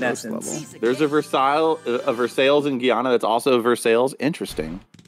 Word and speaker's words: Versailles: a we have a Versailles and it's not pronounced Versailles it's pronounced Versailles Mages there you go have some money Jeff